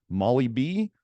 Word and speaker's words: molybdenum: You know, some people can say molybdenum, some people call it Molly B, some people just call it Molly.